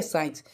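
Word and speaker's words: science: एक एग्जांपल ले लेते हैं साइंस ठीक है साइंस तो यहां पर देखें एस सी आई ई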